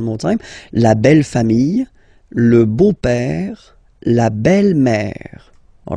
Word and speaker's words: beau-père: So père, okay, father, so father-in-law, okay, in French it's le beau-père, the beautiful father. Le beau-père. So remember this E-A-U combination of vowels only give you the sound O, beau, okay, le beau-père.